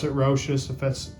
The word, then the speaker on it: Rochas: I pronounce it Rochas.